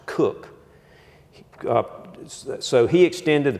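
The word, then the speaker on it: Coke: jurists sir Edward Koch at spell coat pronounced cook uh so he extended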